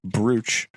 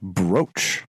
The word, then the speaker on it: brooch: But yes, so I have heard people pronounce that as brooch. And I brought this up to Susan, and she had the same reaction I did of why. But it is in fact brooch.